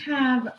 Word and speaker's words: have: In this word, the E is broken. We've talked about this word. Have, It's still saying not a.